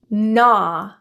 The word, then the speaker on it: gnaw: When you see GN and GH combinations in a word, you can assume that the G is silent.